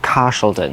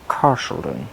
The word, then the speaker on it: Carshalton: in north yorkshire like car sheldon i have to say with like a sean connery accent like car sheldon i have to say like that wait is it cashelton